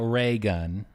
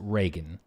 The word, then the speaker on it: Raygun: Like spelled out Ray Gun. Raygun. But I would assume one word. I would assume they pronounce it Reagan. Oh, interesting. But it's Raygun.